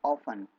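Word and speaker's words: often: Quite ऑफन, अक्सर, जब भी आपको बोलना हो अक्सर तो आपको कहना है quite ऑफन। ओ एफ टी ई एन, इसमें ऑफ साइलेंट रहेगा, एफ साइलेंट रहेगा और ऑफन बोलना होगा।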